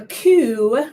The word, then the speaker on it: coup: a state or monarch a coup with a silent p is a some violent